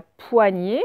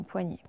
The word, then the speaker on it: poignée: Je suis la poignée. Alors, poids, P-O-I. Nie, c'est le nie, hein, G-N. Et puis le E. Et à la fin, vous voyez qu'il y a un E muet aussi dans poignée.